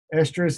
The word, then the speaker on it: estrus: of these on here you will hear a stress and stress pronounced the same but there's differences estrus as in us is the period of